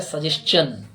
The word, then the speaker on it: suggestion: इसका proper verb होता है सजेशन। जब इसको स्पीडली बोला जाता है तो इसी प्रकार बोला जाता है, I give my सजेशंस टू हिम। छह बीच में आता है सजेशन। SUGGESTION, सजेशन। स जे आधा श फिर च फिर न, सजेशन।